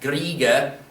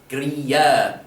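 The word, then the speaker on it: griege: end of a word that comes between two vowels makes more of a Y sound. So it's not griega, gria, yeah.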